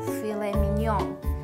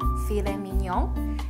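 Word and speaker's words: filet mignon: 一个法语词，叫做 filet mignon。这个单词其实读起来是特别好听的 filet mignon，那英文当中也沿用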